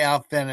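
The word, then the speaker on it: Alfvén: When I say Alfen, it's spelled Al Lfen.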